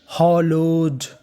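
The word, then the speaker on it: hallowed: तो मीनिंग बनी HO इसे पढ़ेंगे हॉ, LLO लो, तो इतनी मीनिंग बनी हॉलो। और आखिरी में लिखा है ED को क्या पढ़ते हैं डा, तो मीनिंग बनी हॉलोड।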